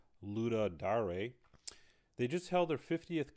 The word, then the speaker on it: Ludum Dare: based on wikipedia page i believe it's pronounced luda dare they just held their